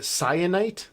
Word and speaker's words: Syenite: Our third main character is named Cyanite. That's spelled Syenite.